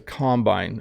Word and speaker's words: combine: this is a combine notice the slightly different pronunciation you can combine two things but this is a combine i'm not even sure